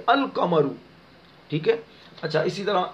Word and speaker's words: القمر: تو اب لام کا تلفظ کریں گے القمرو.